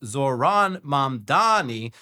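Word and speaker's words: Zohran Mamdani: Babel said his name, which should be pronounced Zoron Mdani, was most commonly mispronounced when people swapped the M and N in his last name.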